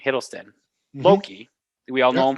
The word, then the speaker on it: Hiddleston: as an actor tom hiddleston that's how you pronounce the name hiddleston loki we all know him from loki from